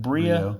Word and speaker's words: Brio: Is it Brio? Brio Med Spa.